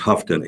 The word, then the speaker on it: Houghton: I think it's pronounced Houghton, H-O-U-G-H-T-O-N. Houghton Fur Jr., age 73, of Lincoln.